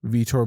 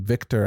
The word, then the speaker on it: Vitor: That was the fight that he came into the UFC, and people were calling him Victor at the time, when his name is actually Vitor, or, it might be pronounced differently in Brazil.